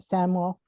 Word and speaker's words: Samuel: We are especially grateful to Steering Committee member Deb Samuel, rhymes with camel, I will never forget, who